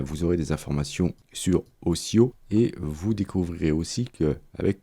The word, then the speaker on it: OCIO: Avec cette version bêta de Photoshop, vous avez un nouveau système de gestion des couleurs open source qui s'appelle Ocio. Ça s'écrit O-C-I-O.